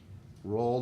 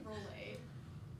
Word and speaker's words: Rolle: No, he's pronounced Rolle. I believe it's Roll.